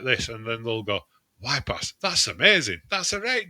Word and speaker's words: Y-Pas: And I'll say, "Wip pass." And they'll go and spelled like this. And then they'll go, "Wip pass.